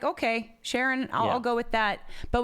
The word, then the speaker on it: Charon: we say Pluto and Charon uh-huh and there's Karen people take Karen or cheran or cheer on or sharone or whatever right and so Sharon is the way that Allen Stern from New Horizons pronounces it and that's good enough for me yeah right yeah the